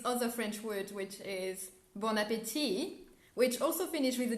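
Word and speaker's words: bon appétit: sound french or bianco don't pronounce the t in the end just say bon appetit or croissant and like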